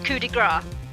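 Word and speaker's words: coup de grâce: Oh, I was just gonna say about the way it's pronounced back there was coup de grace. Coup de grace. Oh, wow. Because it's French.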